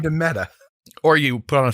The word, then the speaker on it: Meta: and they're calling themselves meda meta sorry meta is the pronunciation uh and their logo